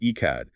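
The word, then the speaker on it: אחד: He is Echad, pronounced Echad, which means absolutely one.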